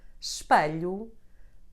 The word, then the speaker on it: espelho: You can get it in a tonic syllable when followed by the combination CH, LH, NH, or the letter J. Here are some examples. Fecho, espelho, tenho, vejo. Since I am from this region, I personally say these words this way.